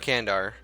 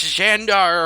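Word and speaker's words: Candar: And I know it's not Kandar. I know it's not Kandar. Please, the comments are going to come. They're going to be in waves. It's Shandar, or however you pronounce it.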